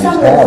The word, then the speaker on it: Halley: She was born in Halley's Comic Camp, and I researched it, and it's Halley, that's how you pronounce it.